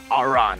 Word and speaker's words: Aran: Aran. That's what I'm trying. Yeah, for the people back at home, Aran's name rhymes with ran, so that's the joke.